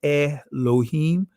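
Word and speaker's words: Elohim: Fly Allah I am some of you guys would say eh lohim right that's the Israeli pronunciation of it Allah in large japheth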